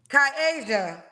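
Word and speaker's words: Kai-Asia: am K proud Gemini Kai Asia yep just how it's spelled that's why my name has the dash my mama put that there so people know it's Kai and Asia Asia okay do you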